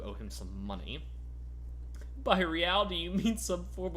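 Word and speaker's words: réal: What's real? Oh, excuse me. You owe me 130 real. He pronounces the R with a mock aristocratic accent.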